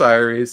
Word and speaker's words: Aeres: From the creators of the Chronicle, I always pronounce it Aries.